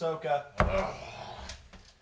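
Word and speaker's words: Sokka: later qara andsa Freedom it's pronounced sooka and F and and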